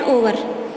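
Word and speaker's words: hour: एन ओवर. एच जो है वो साइलेंट है इसमें.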